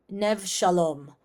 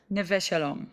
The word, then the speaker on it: Neve Shalom: Um, and correct me if I'm pronouncing this wrong. Nev Shalom. Neve Shalom.